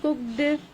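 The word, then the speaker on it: cooked: Pronunciation किस तरह से होगी, ये वर्ब्स जिनको हम पढ़ते हैं, कुक्ड, hoped, missed, washed, laughed, washed, तो ये वर्ब्स इस तरह से नहीं प्रोनाउंस किए जाते हैं। नेटिव स्पीकर्स जो होते हैं यहाँ वो टी का साउंड इस्तेमाल करते हैं।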